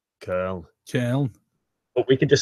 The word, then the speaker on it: Köln: The Germans would say Köln. Köln.